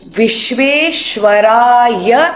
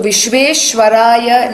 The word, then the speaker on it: Vishveshwaraya: Om Vishveshwaraya Namaha. So Vishveshwaraya Namaha, Vishveshwaraya means the Lord of the universe. So the ya part is always going to be lower and the Namaha, the